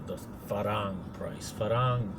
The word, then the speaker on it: farang: Farang, F-A-R-A-N-G is how I spell it, is the Thai word for a foreigner, a farang. And kind of like Star Trek's Ferengi, the farang.